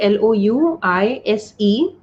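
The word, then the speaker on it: Louise: is by the lucy yeah her name is pronounced as louis l-o-u-i-s-e louis and uh i would say what i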